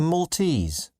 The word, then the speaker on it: Maltese: from Bali are Balinese people from Malta are Maltese food from Portugal is Portuguese food from Lebanon